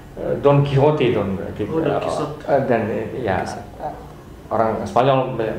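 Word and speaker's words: Don Quijote: apa yang terkenal dari servantes Don k eh don quiijote don dan ya orang Spanyol membacanya Don quiijote oh D Kote di Indonesia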